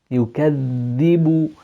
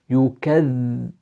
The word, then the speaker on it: يكذب: يكذب, and so your tongue needs to come out from your central incisors, beyond it, and you're pronouncing two dhals. يكذب, and then you have the kasra and your lower jaw goes down.